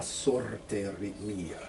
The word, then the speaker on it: sorte mia: Roll your R a little bit more on la sorte mia. Sorte mia. Okay? Because it's not between two vowels.